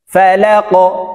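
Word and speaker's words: فَلَق: ফা জবর ফা, লাম কফ জবর লাক, ফালাক, এই লাম কফকে ধরবে, ধাক্কা দিয়ে উচ্চারণ করতে হবে যেহেতু কফ কলকলার হরফ।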